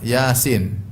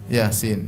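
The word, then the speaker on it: يس: ya contohnya lagi apa Yasin thha jangan dibaca thah Bacanya apa th ha Yasin dibaca jangan dibaca Yas tapibacanya ya Yasin ya kemudian th Sin mim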